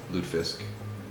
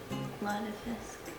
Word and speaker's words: lutefisk: So, well, I don't know, people spell it differently. Lutefisk. It's not Lutefisk, Lutefisk. So, we're going to make Mrs.